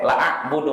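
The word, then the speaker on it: لا أعبد: Lanya panjang kan? Iya. Ah tapi dia bacanya pendek. La a'budu ma ta'budun ini artinya menyimpang, berubah total.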